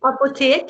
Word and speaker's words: Apotek: Kronen's Apotek, did I pronounce that right? Apotek, yeah.